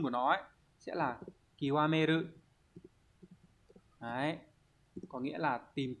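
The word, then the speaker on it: 究める: mà âm cương của nó ấy, sẽ là kiwameru. Đấy, có nghĩa là tìm tòi đến cùng này. Đây, đọc là kiwameru các bạn nhé.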